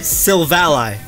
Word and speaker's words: Silvally: Because okay, so to know the origin, you'd have to pronounce it correctly. It's not a strength. Silvally.